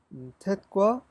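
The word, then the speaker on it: טית: 아, 타브가 아니라 탯이죠, 탯.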